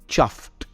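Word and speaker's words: chuffed: Although ये ईडी में एंड होता है, हम ईडी नहीं कहते, ये एक सॉफ्ट टी में एंड होता है। हम कहते हैं चफ्ड एंड नॉट चफ्ड, राइट?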